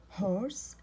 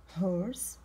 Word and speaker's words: horse: horse horse. H O R S silent E. E هذه silent تكتب ولا تنطق.